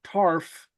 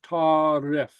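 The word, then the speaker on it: tarbh: So it's not tarf or tarb or something, it's tarif. It's as if there's a okay, a helping vowel. So tarif is pronounced tar if, like tarif. Okay, and the BH makes an F sound, okay, or a V sound.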